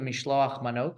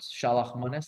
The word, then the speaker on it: mishloach manot: You do that with gifts of food, the mishloach manot, shalach manis, depending on how you pronounce it, and gifts to the poor of money, which we in Hebrew call it matanot levyonim.